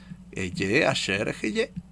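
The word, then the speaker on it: אהיה אשר אהיה: ¿Quieren saber cuál es la correcta y no equivocarse? Eye, Asher, Heye. Esa es la correcta. Porque así se lo dijo Dios a Moisés.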